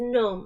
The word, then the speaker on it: gnome: because like people's actually the pronunciation actually is gnome, right? But that's like that's like taking off the G and the E and you're only you're only pronouncing N O M.